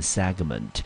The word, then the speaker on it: segment: 好， segment 注意哦，重音节呢落在第一音节，我们念成 segment。